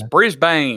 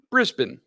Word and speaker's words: Brisbane: Everybody says Brisbane. Brisbane. Nope. It's Brisbane. Brisbane.